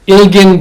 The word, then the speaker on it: Ilgen: that you have in recording what's her name ilgen Denise axelo how do you say her first